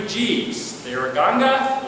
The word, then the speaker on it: Ganga: They are Ganga, or Ganja, which I'm reluctant to call it Ganja, although it can be pronounced several ways. Ganja, people think you're Rastafarian.